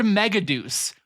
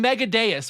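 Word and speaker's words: Megadeus: will never forgive and it's the word meggaduce. Why did they say it like that? In the sub. They are clearly saying meadeis which is a way cooler word.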